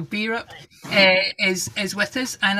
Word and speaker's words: Bierhope: you say it lynn europe europe yeah because i was think i was calling it beer hope earlier so beerup is is with us